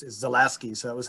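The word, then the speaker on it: Zalewski: is from new zealand the way he pronounces his own name is zalasky so that was how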